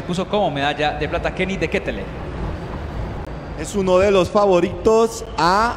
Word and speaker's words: Kenny De Ketele: que tenemos en cali que vi de gente kenny de ketele es la pronunciación de él el ciclista que en ese